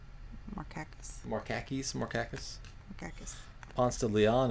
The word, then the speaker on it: Markakis: I guess that's how you pronounce his name. Kiki, how would you say this guy's name? M-A-R-K-A-K-I-S. Markakis.